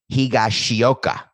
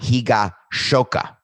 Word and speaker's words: Higashioka: pronounce japanese names correctly the yankees have kyle higashioka not higa shoka it's higashi oka which means eastern hillside i appreciate that correction